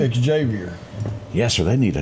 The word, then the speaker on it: Xavier: Makila Dunn, she signs with, do you pronounce it Xavier? Xavier.